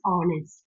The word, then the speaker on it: honest: But no h is silent.